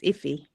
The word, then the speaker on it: Ify: You're pronouncing it right. It's Iffy.